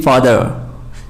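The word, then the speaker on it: father: फादर पढ़ते हैं, जबकि ये फादर, देयर इज no pronunciation of are letter.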